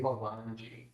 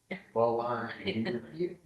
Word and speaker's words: Belangi: I just said, say Belangi, Belangi. And then I showed them that's not how you actually spell it.